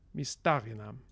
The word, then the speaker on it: mistarinam: Mistarinam. Note that the stress here is on the antepenultimate syllable, sta. And the stress here is on the penultimate syllable, ri. So mistariri, mistarinam.